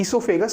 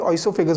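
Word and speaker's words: oesophagus: ईसोफेगस। Spelling O से start होते हैं इसलिए इसको कई लोग स्पेलिंग गलत ना हो इसलिए ऑइसोफेगस बोलते हैं।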